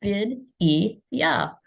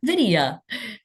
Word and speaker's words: Vidya: It's Vidya or Vidya.